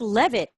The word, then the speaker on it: Levitt: your last name Debbie it's just Leavitt kind of the way it looks just how it looks Debbie Debbie love it